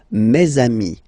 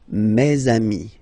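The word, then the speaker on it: mes amis: Ami okay and then let's be Pur and make this beautiful Le between these two words mesami mesami meami all right so I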